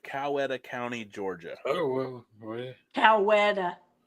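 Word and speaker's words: Coweta: Cowetta. I said it right.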